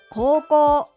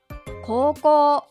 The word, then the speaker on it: 高校: 発音は高校、高校。